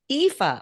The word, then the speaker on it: Aoife: So I'm going to answer the first question before you ask, and this is probably going to be how to pronounce my name. It's Aoife. Aoife.